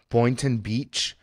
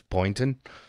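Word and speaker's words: Boynton Beach: place in uh uh Boon Beach uh Florida was uh smoke in so it's it's boy n t n Beach so if I mispronounce it I apologize but uh I think that's Boon and uh yeah that was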